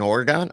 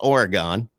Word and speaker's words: Oregon: they have an oron it's Oregon you say Oregon like you leave out a okay so you leave out a whole syllable and I'm in the